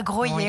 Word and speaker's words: Groslay: Donc, les ateliers sont à Groslay. À Groyer. À Groyer, on prononce, pardon, tu vois, je ne connaissais pas,